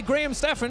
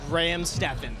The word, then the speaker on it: Graham Steffen: We're joined here by Graham Steffen, who you might recognize from last year's fight against Michael Reeves. Yes.